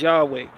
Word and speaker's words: Yahweh: as it stands in the Bible, the closest pronunciation people have today is Yahweh.